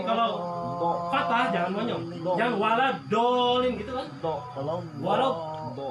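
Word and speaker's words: ولا الضالين: Waladolin ya, waladolin. Nah ini juga 6 harakat bacanya. Mad apa? Lazim musaqal kalimi waladolin gitu ya. Ada sidahnya juga. Jangan nggak pakai sidah lagi nih.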